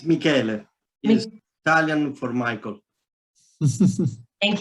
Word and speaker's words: Michele: get started by introducing um dr michelle and am i pronouncing your name correctly it's michael he's italian for michael thank you and i'm